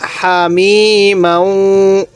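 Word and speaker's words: حميما: আলিফ টানা হবে ইল্লা হামিমা অনেকেই আমরা এখানে যে ভুলটি করি হামি এই হাটা উচ্চারণের সময় আওয়াজ করে ফেলি না এই হাটা উচ্চারণের সময় মুখ দিয়ে হালকা বাতাস বের করব হামিমা ইল্লা হামিমা গাইন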